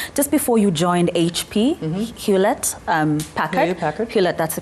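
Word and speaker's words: Hewlett: those past years just before you joined HP hulet um packet that's the correct pronunciation as CEO yeah um so the the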